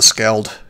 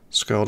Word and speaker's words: skald: of ending up being a scald you know or a skald i guess it's pronounced which is uh shockingly